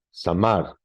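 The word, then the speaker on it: זמר: es la palabra Sam samar samar con acento en la última samar raíz primaria este esta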